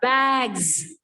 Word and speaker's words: bags: It will be like z, bags.